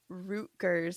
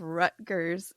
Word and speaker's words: Rutgers: um and uh it was because I said root G college instead of rut G college but I'm going to tell you as